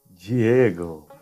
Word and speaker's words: Diego: Então, a sílaba formada por DI sempre será pronunciada como di, sem importar sua localização na palavra. Então, a primeira palavra que vocês têm que aprender é Diego, professor de vocês, ok?